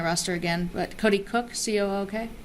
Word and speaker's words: Cook: But Cody Cook, C-O-O-K? Oh, Cook. Cook. It's pronounced Cook? Yeah. Okay, all right.